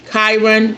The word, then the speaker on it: Chiron: Uh, Chiron. Okay, that's how you say it. Chiron return comes around age 50 to 51.